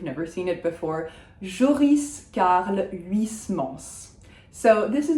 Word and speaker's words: Huysmans: And we say the S at the end of Huysmans. We do not pronounce the H, so it's not Huysmans. And we have that final ons, which is the nasal on. So we don't say the N, we do say the S.